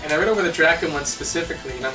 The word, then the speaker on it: Drakkhen: face of the Earth draon that's how you pronounce it I never really read